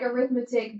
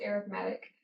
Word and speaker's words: arithmetic: So for sequences, you have, this looks like arithmetic, but it's really actually pronounced arithmetic.